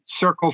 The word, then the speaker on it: Cercle: One of the things that you did recently, and I'm probably going to mispronounce this, but Circle or Cercle. Yes, Circle. Yeah. Yeah.